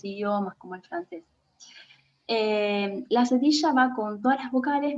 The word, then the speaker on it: cedilla: Cedilla se pronuncia como una S, ¿sí?